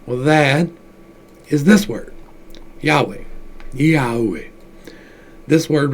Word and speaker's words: Yahweh: But this says Yehovah, but that's not quite right. If you look at the Kabbalah, they tell you the pronunciation of it is Yahweh.